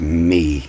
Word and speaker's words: mi: my come cabal and I believe that's pronounced me you know m i as in m e me and me come cabal